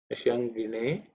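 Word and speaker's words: niṣaṅgiṇe: Nisha, the sha is cerebral sha. Nishangine Cheshu.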